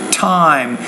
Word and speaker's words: time: And notice the word T, the tend, time. You need to pronounce that T with more air.